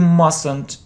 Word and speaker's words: mustn't: mustn't pronounce it you mustn't say it yes we don't say t mustn't mustn't okay next should so